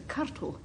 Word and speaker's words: curtal: I do know how to pronounce it. It's a curtal, and as I hope you'll guess, it's a Scots word.